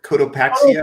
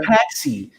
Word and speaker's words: Cotopaxi: Cotopaxi? Cotopaxi. I was calling it Cotopaxi, but it's Cotopaxi.